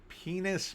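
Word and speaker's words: PEN15: Uh TV series called penis but it's spelled pen 15. It's pen 15, but it looks like penis.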